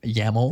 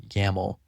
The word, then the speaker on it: YAML: YAML.